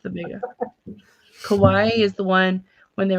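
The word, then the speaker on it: Kauai: and k a u AI how do you pronounce that the Kawai Kawaii that's a k a i so Beach Maui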